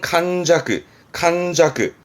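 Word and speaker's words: 閑寂: 이게 한적함이라, 발음은 칸자크.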